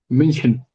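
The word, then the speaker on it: München: Minion. Okay. Minion. But so it's a bit difficult for us to pronounce.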